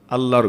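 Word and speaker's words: الله: যেই ঘরের সম্পর্ক ওই ঘরের নাম ওই মসজিদ আল্লাহর ঘর বাইতুল্লাহ এই শব্দের মধ্যে এক ধরনের ভাব আছে।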